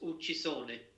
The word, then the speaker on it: Uccisone: Is And it it's pronounced Uccisone. Uccisone?